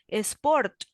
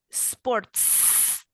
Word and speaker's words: sports: Sport, no, sports. Can you see there is a letter S at the end?